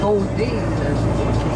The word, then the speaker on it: boudin: Et ici, on va prononcer Baudine.